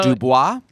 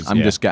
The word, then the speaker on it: Dubose: So Dubois. No, it is spelled Dubose. Dubose.